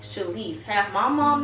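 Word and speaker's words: She'Lise: Half Sheila, half Elise. Shalise. And when he told me that, I just fell in love with that name. And it's spelled S-H-E apostrophe capital L-I-S-E. So half of Sheila, half of Elise.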